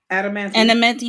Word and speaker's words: Adamantium: Adamantium. Adamantium, right?